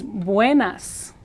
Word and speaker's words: buenas: Notice that this is buenas, buenas. The A in Spanish is always A, and it agrees with a feminine word, which tardes is feminine.